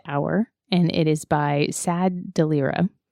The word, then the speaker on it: Tsad: So on the DeviantArt page, there's posted an image called Rust Hour, and it is by Sad Delira. It's TSAD. Yeah, but it's pronounced sad.